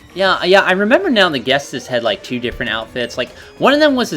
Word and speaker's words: Ghetsis: Well, actually, it's Ghetsis. Oh no, Ghetsis. We were both saying it wrong. Holy shit. Get sis.